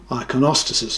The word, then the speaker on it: iconostasis: church with its modern frescoes and restored iconostasis iconostasis is the way they pronounce it this is the restored theodorovsky cathedral